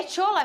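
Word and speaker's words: Shola: quem é o tchola é tchola mesmo que fala olha eu falo porque primeiro ele é nigeriano ele se a o nome dele é assim que se escreve sh o l a aí eu pronuncio dessa maneira é um atacante nigeriano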